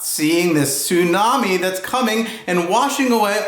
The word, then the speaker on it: tsunami: get diamonds for diamond rings t is for tsunami do you know what a tsunami is that's